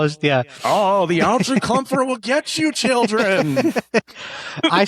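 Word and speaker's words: Alge Crumpler: Yeah, It's Algie Crumpler. That's Algie how that's Crumpler. how his yeah. Oh, the Algie Crumpler will get you, children.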